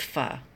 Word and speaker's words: pho: she can do that it's spelled pho but it is pronounced fuh fuh rocks we had